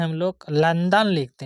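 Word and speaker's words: London: भ हो जाएगा ओ एल ओ एन डी ओ एन लंदन होता है लंडन नहीं लंदन होता है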